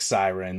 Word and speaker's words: Syron: So Syron, Syron, but pronounced like Siren, like on the cop cars kind of thing, right?